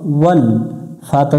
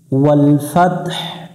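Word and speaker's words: وَالْفَتْح: ওয়াল ফাতহ, ওয়াল ফাতহ। এখানে একটু আমরা গলার মধ্য থেকে একটু বাতাস বের করব। ওয়াল ফাতহ। যদি শুধু ওয়াল ফাত বলি তাহলে হা অক্ষরটা উচ্চারণ হবে না।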